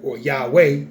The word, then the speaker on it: Yahweh: yo you can call them always hi-yah okay Yahweh and you can call them almost hi-yah he